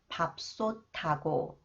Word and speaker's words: 밥솥하고: Okay, this one, the sound of the final consonant 티읒 is changed to 디귿, and then combined with 히읗, it is pronounced 트 sound, 밥솥하고, 밥솥하고.